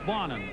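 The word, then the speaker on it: Bonin: crewmate bonnet he says he says yeah it's bonnin and somebody says well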